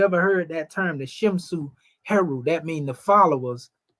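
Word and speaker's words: Shemsu: In fact, I seen Shimsu, and you'll see this spelled sometime, S-H-E-M and S-U. So when you see this S-W at the end, it's U, Simsu, Su, pardon self.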